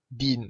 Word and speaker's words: Dien: How do you pronounce his name, by the way? Dean, like D-E-A-N.